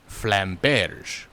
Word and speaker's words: flamberge: So we'll go with the French pronunciation of flamberge.